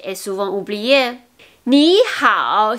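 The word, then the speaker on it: 你好: Ni hao, si on oublie le H comme ha ha ha, le hao, ça devient niao, niao. C'est plutôt comme la prononciation niao, qui veut dire l'oiseau en mandarin. Donc c'est ni hao, ni hao.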